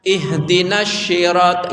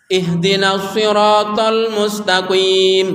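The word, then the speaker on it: اهدنا الصراط: Kadang ada yang baca ihdinas syirat, itu salah. Itu shin. Kalau shin artinya juga beda. Jadi bacanya ihdinas siratal mustaqim.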